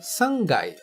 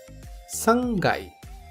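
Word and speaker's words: 三階: nikai nikai já o terceiro andar é o sangai sangai que note o k de kai se torna G Pois é inserido o tenten portanto Gai uma outra diferença é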